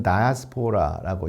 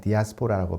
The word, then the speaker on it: diaspora: 그 다음에 이제 영미권에서는 다이아스포라라고 이야기를 하고 우리는 그냥 디아스포라라고 발음을 하는 바로 이 개념이 있는데,